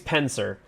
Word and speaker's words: Penser: His name's Penser. Uh, which is it's spelled pen and then sir as in like a knight.